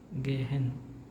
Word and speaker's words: gehen: n is present like but whenever letter H is in between it is sent right so this the pronunciation of this word becomes as gehen instead of G we